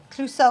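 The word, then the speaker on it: Clouseau: will laugh to your sides hurt and it's pronounced cluso oh that little guy I know who he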